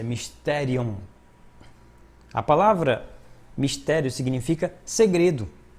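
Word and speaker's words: μυστήριον: O conceito bíblico de mistério do grego, que em grego a pronúncia é mysterion.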